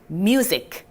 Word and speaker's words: music: MU를 어떻게 읽을까? 뮤. 좋아요. SIC, zic로 읽어주시면 됩니다. music.